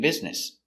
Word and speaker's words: business: And business. B. Z, biz. Bizn. Business. S, business. Business. Business.